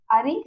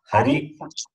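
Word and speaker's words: अरि: This is Ari is different from Hari. That is, Hari is Lord Vishnu, this Ari is enemy. When you say it wrongly, the meaning is different. Hari, Ari. Both are different.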